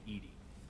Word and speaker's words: EDI: why are you named Edie Edie is the phonetic pronunciation of EDI where are you my